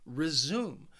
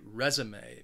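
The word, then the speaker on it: résumé: resume but I think Learners quite quite often confuse it with the verb resume which has two syllables and the stress is on the second syllable resume but we're talking about the your resume my resume maybe somebody needs to update their resume so be careful because if you are talking about the noun you want to say resume next is my favorite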